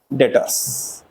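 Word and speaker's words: debtors: हमारे क्या है वो इंग्लिश में डेटस भी साइलेंट रहता है बेटा इसमें डेटर्स ये हमारे डेटर्स है और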